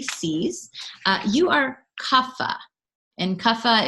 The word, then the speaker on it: kapha: you are kava and kapha is felt see APHA like I know it's phonetically you might want to write us but it's with a pH so kava is made